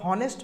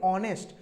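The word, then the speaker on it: honest: এসটি হনেস্ট তাইতো আমরা হনেস্ট বলি বলি না আমরা বলি অনেস্ট তো এইচটা উজ্জ হয়ে যায় এইচ এর উচ্চারণটা আসে না ও এর উচ্চারণটা বেশি আসে তখন আমরা এই যে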